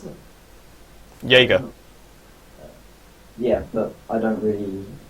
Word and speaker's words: Yaeger: Is that how I pronounce it? Jaeger.